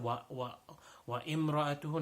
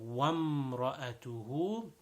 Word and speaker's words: وامرأته: There is an alif over there, but the alif is silent. The alif, we don't pronounce it over there. So it's not wa imra'atuhu, no, wamra'atuhu.